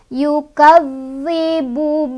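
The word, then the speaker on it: يُكَذِّبُ: Yukadzi, zal ini bertasydid, jadi ditekan tapi nggak usah ditahan juga, ditekan aja. Yukadzi, yukadzibu biddin, biddi.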